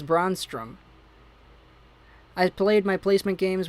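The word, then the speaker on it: Brännström: of edler oh boy you said braun strom's name wrong say it like this braun strowm i played my placement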